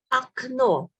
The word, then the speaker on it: окно: Окно. Окно. We write it with O, but we pronounce it A.